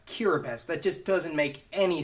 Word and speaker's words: Kiribati: BES okay what that why is there a T in there and an i if it's gonna be pronounced cure best but just doesn't make